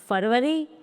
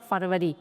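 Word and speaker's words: February: Next फरवरी हम English में इसको बोला जाता है फरी। तो इसमें जो पहला आर होता है वो साइलेंट होता है।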